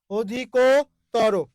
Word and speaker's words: অধিকতর: গেল ও হয়ে গেল এই যে অধি এই যে কো তর অধিক তর অধিক তর আচ্ছা অধিকতর এ ভাইয়া অধিকতর অধিকতর বুঝতেই পেরেছেন অধিকতর অধিকতর ওকে মোহ মোহ আছে ওই জন্য এখানে কি হয়েছে ওকার হয়েছে ভাইয়া তটা কেন ত হবে এখানে কোন নিয়মটা কাজ করতেছে এখানে কোন